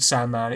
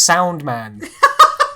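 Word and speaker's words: Soundman: it's a manga uh so it turns out sandman isn't called sandman it's the the dirty white man mispronouncing his name which is sound man get it right it's like what that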